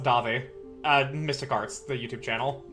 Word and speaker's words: Davi: See, you follow Daddy. No, it's pronounced Davi.